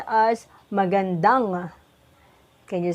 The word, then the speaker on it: magandang: gonna put the ligature angie and it is pronounced as magandang can you say it magandang correct and now we will put arou can